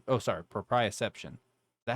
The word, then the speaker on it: proprioception: body including touch temperature pain and pro uh precipitation proprioception oh sorry proprioception that how you say it yeah the sense